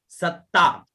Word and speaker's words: सत्ता: आगे वाला देखिए, सर्व मंत्रमयी है ना, सर्व मंत्रमयी सत्ता, यहाँ डबलता है उच्चारण उसी प्रकार से हो, सत्ता।